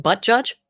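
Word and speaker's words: Buttigieg: like excuse me spoon it's pronounced butt judge what was it that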